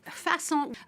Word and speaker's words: façon: from the French word façon, or to craft material. And in the regional Normandy languages, Langue d'Oil, façon was actually pronounced fashion.